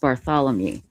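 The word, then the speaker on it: Barthelemy: And uh this is a victim Melissa Bar- It's It's pronounced Bartholomew.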